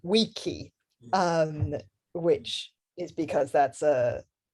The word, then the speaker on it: vici: So people think that Caesar said veni, vidi, vici, but he actually said weni, weedy, wiki.